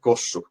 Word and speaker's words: Kossu: So one question is, what do you prefer to drink, Yalu or Kosu? I hope I'm pronouncing it right. Yeah, Jallu and Kossu.